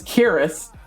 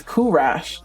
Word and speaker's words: Kuras: I thought this was curas. Now it's it's kurash. No, kurash. Kur rash. Like mash.